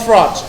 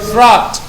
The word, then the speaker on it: throat: Terakhir, sore throat, apa? Bacanya ikut itu Ustaz, ini agak susah. Coba tenggorokan, ya. Dengarkan Ustaz, ikuti Ustaz. Throat. Sekali lagi, throat. Bukan throat, tapi tha.